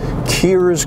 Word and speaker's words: Kerrs: Kears Corner Road. It looks like Kerrs, K-E-R-R''S, Corner Road, but it's pronounced Kears.